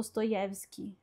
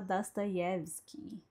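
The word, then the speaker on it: Dostoiévski: Então, em vez de falar do Stoyevski, como você vê o acento no ye, no, né? Eh, é para você falar Dasta Yevski.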